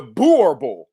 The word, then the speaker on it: Boerboel: about the about the the the the the borable is how she said it's pronounced.